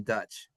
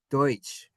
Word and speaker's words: Deutsch: But lazy English speakers, lazy American English speakers heard Deutsch and they didn't want to make the oi sound, so they said, "Oh, they're the Pennsylvania Dutch." No, they're the Pennsylvania Deutsch.